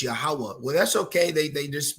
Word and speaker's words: Yahweh: Now they got the name Yahuwah, but it's Yahweh.